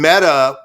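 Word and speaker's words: Mette: lot of years like meta like me yeah it it's spelled uh me tte but it's pronounced meta she's been around for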